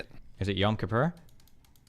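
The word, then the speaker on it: Kippur: Is it Yam Kapur? Close. Kapore.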